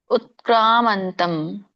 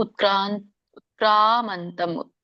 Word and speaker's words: ಉತ್ಕ್ರಾಮಂತಂ: ಉತ್ಕ್ರಾಮಂತಂ ಸ್ಥಿತಂ ವಾಪಿ ಭುಂಜಾನಂ ವಾ ಗುಣಾನ್ವಿತಂ ವಿಮೂಢಾನಾನುಪಶ್ಯಂತಿ ಪಶ್ಯಂತಿ ಜ್ಞಾನಚಕ್ಷುಷಃ. ಉಚ್ಚಾರಣೆ ಉತ್ಕ್ರಾಮಂತಂ. ಓಕೆ, ಕವತ್ತು ಬಂದ ಹಾಗೆ ನೀವು ಉಚ್ಚರಿಸಬೇಕು. ಉತ್ಕ್ರಾಮಂತಂ. ಕಕ್ಕೆ ಆ ಸ್ವರ ಕೂಡಿದೆ, ಎಳಿಬೇಕು.